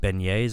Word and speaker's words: beignets: we're down there, people recommend that we get beignets, I think it is.